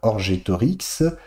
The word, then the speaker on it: Orgetorix: Il fallait que poenam, la peine, sequi, suive littéralement, damnatum orgetorigem, suive Orgetorix, je l'ai mal prononcé tout à l'heure, Orgetorix, condamné.